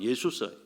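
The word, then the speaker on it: Ἰησοῦς: 표기가 예수입니다 예수 예수입니다 정확히 발음하면 예수스 헬라어로 표현 말하면 예수스 그게 우리나라 영어로는 저서라고 하는데 우리나라 말이 헬라 말하고 거의 유사해요 헬라어로는 예수스 우리나라는 예수이 뜻은 여호와는 구원이시다 히브리어로는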